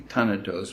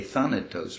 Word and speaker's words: Thanatos: of eros but of tanatos is that how you pronounce it in german would be ton of those but in english we say than it does right now you know